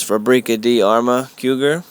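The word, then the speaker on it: Fabrica de Arme Cugir: The proper pronunciation is Fabrica di Arma Cougar, and the weight of this rifle is 9.5 pounds.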